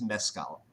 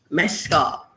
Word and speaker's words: Mescal: He says, my name is Mezcal. Mezcal. Like the tequila.